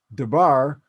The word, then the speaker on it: Dubar: to the great pyramid which is pronounced de bar which is my family name my my maternal grandfather